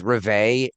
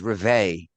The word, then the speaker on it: Rivet: and his name is Re. Uh it's French. R I V. So you started mispronouncing his name. Yes. So I was like, "Oh, okay. Dr. Rivet." He goes, "It's Re. It's French."